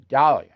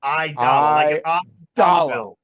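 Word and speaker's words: Aidala: town name is Arthur Dalia I I mispronounced it last time IIA idala I dollar I dollar like dollar bill of which you charge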